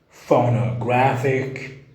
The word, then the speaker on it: phonographic: Phonographic writing, phonographic writing, phonographic writing. أو تنطق أيضا لفظ آخر phonographic, phonographic, phonographic.